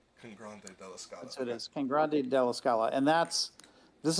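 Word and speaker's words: Cangrande: was Grande delala con Grande deala it is Kang Grande delis Scala and that's this is not known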